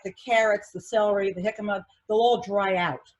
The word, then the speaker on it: jicama: a latin food so those js are pronounced as an h okay oh okay yeah